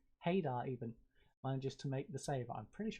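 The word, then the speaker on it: Haydar: ali's got space oh adar heydar even manages to make the save i'm pretty sure i said ada silent h you see here in turkey silent h as you can see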